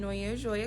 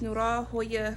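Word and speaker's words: Noir Joya: I pronounce it Noya Joya Co. But the correct pronunciation is Nura Hoya Co.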